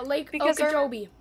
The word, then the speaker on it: Okeechobee: It's Lake Because they're- Okeechobee. It's Lake Okeechobee.